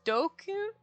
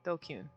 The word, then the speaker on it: DQN: DQN, Japanese net slang, pronounced dokun? Dokun? Yeah, dokun.